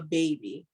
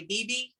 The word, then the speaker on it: Bebe: So the name is Bella Baby. And it's spelled Bella Bebe. So a lot of people say BB, but it's actually baby because in French, BB is baby.